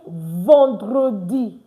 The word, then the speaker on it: vendredi: Please, it's not vendredi. It's vendredi. Because ER is pronounced on. So instead of ve, the English way, you say vent, the French way. So we say vendredi.